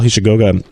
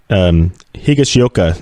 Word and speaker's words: Higashioka: And then they had one of their young guys, Paul Hishigoga, hit his 1st of the season and the 4th off of David Price. That's I was trying to pronounce his name right. Higashioka there is the guy, the rookie